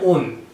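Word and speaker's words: -one: लिखते इसको वन से है लेकिन इसका प्रोनाउंसिएशन कैसे करते हैं? ओन।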